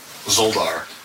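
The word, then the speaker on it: Szoldar: Spell it. It's S-Z-O-L-D-A-R. Zoldar.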